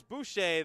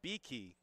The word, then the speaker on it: Beakey: One up, one down, and here comes Boucher, the right fielder. Boucher sets. First pitch from McCarthy. Outside, 1-0 to begin this at-bat. Mispronouncing his name, it is actually Beakey.